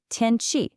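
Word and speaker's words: 天气: Combine sky, tiān with the character for energy, and you get tiān qi, sky energy.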